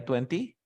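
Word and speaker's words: twenty: Dice que si tú tienes una N, una T y un sonido de vocal, no pronuncias la T, ¿ok? No pronuncio la T.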